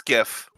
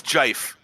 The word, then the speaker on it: GIF: It's a hard G.